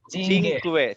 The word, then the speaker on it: cinque: CI is CI is chi, Sorry. correct. Cinque.